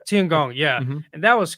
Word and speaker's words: Tiangong: And then even doing the I don't know how to pronounce it. The Chinese space station, the Yeah, the Tiangong. Tiangong. Tiangong, yeah, Mhm.